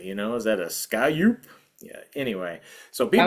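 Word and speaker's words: scaup: So I say scalp.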